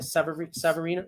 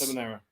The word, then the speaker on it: Seminara: How do you say his name? Severino? Well, Gus. Seminara. All right, Seminara.